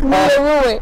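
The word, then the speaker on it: Miyruwe: Did I get the pronunciation? Yeah, Miru.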